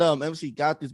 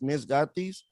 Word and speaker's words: Miss Gatis: I said MC Gatis, but nah, guys, it's Miss Gatis.